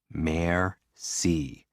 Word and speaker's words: merci: and what they go merci what does it mean thank you break it down mayor c what's a mare a